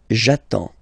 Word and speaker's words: j'attends: So the first form will be j'attends, j'attends. Okay, you get D and S, well basically you don't pronounce them, okay, and then you get only the sound attends, nasal here, en, j'attends, okay.